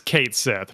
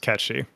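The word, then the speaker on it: Cait Sith: Yeah, well, because that pronunciation goes off the fact that he's fucking Scottish in Advent Children.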